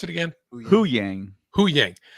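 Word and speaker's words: Huyang: Hu Yang. When he's instead of Hu Dat, it's Hu Yang.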